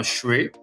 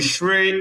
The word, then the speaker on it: Srae: He's a singer-songwriter called Adam Shrae. But the Shrae is spelled S-R-A-E.